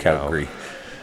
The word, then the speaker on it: Calgary: You probably don't even need air conditioning in Oh, come on Calgary. Calgary. now. Calgary. Calgary. That's the other word that rhymes with hungry.